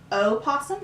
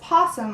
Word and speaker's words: opossum: name didelphis virginiana now sometimes this animal is called by the word Oh possum how it's spelled or just possum more commonly originally it was called the opossum based on a Native American word for white animal but over the years the o is dropped also because there's a